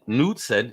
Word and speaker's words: Knudtsen: Facebook, and it's nude-sen. Hey, I said it right now. I wrote it down, and I'm gonna break it down phonetically. Nude-sen.